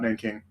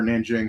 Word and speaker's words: Nanjing: the claims about about Nanking or Nanjing, however you want to pronounce it.